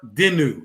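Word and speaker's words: Daigneault: you pronounce his name it's a french last name and according to google says mark denu that's how you pronounce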